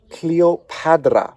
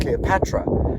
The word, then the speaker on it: Cleopatra: we have hand and that is actually the D sound not the T sound so we have copad cleop padra so we might actually be pronouncing her name incorrectly it's not Cleopatra because clearly written here